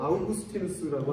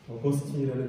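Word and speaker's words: Augustinus: 어거스틴이라는 이름으로 더 유명합니다. 한국 교회에 원래 영어 발음으로 소개가 됐기 때문에 어거스틴이라고 하면 대부분 다 아시고요. 요즘은 이제 원래 라틴어 발음으로 발음을 해주는 추세이기 때문에 이름이 영어로 바뀌었죠.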